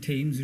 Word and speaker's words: Thames: Like Thames River, Thames, Thames.